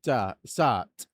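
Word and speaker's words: Sarthe: And they say that it's Circuit de la Tart.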